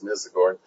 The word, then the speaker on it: Mizagorn: Anyway, okay, that name, and actually I've always pronounced it with a long I, Mizagorn, but apparently everybody else says Mizagorn.